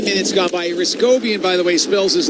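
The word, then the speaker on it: Hrycowian: Ryscobian, by the way, spells his last name. H R Y C O W I A N. So, the H is silent.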